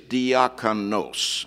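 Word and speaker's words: διάκονος: You know, going back to Perry's original question, the word for deacon in the Greek is diakonos, and that os ending is masculine. And you just knock off the last two letters, the OS, and you have deacon spelled with an I instead of an E. It's almost identical to English.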